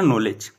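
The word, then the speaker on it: knowledge: तो कैसे याद रखना नॉलेज के से नॉलेज कैसे नॉलेज कैसे नॉलेज की स्पेलिंग में क्या आता है ना साइलेंट रहता है कैसे नॉलेज नॉलेज किसके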